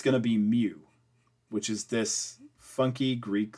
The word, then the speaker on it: mu: I don't care how you spell it. It's pronounced mu.